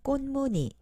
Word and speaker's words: 꽃무늬: 다음 꽃무늬, 꽃무늬 원피스를 샀어요. 여러분, 어떻게 발음하는지 알겠어요?